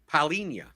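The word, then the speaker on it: Palhinha: to playing someone like paulinia paulinia that's how you pronounce it fulhams Pauline yeah this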